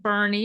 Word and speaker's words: Boerne: Thatcher with us today from the city of Bernie if I pronounced it right correct that is correct and we are so